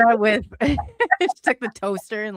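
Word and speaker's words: sídh: There's fairy mounds in Ireland and parts of I think England called she. It's SID. It's a weird spelling, but anyway, it's pronounced she.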